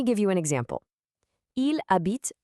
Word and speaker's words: habite: Notice how the a acts as this perfect little bridge between the verb habite, which by the way has a silent h at the start, and the city Paris.